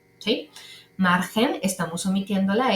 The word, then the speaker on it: margen: seguimos con agricola luego margen notemos otra vez que está que esta palabra margen se escribe con g pero en realidad lo que suena es una J por lo tanto en